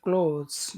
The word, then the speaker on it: clothes: th it's just clothes there's no th sound okay they clothes just like that so they in that